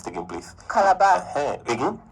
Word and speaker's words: Calabar: Pronounce it again, please. Calabar. Again? Calabar.